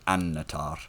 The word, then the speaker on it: Annatar: the end of Silmarillion, a double consonant like that you stress, so like melon or annatar, and you always tap the r in the words.